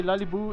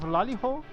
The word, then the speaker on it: Laiho: know of Laiu that by the way Laiu is the a mispronunciation of Laiho that is the name of the that's the dwarve sketch phrase in the front of the statue.